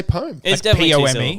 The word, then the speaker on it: poem: no i just say poems i just say poem yeah you're saying they're like p-o-m so it's got two is that definitely two syllables okay yeah o-m well